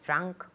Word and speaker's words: drank: Drink with an I. Drank. So it's ah. It goes up and out.